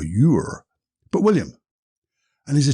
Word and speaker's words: Ure: it right, Cloughie, William Ure. I think that's how you pronounce his surname. It's U-R, so Ure or Ure, but William.